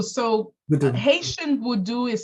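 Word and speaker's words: Vodou: and um oh vod tell me the right pronunciation it's it's voodoo so Haitian voodoo is spelled v o d o u out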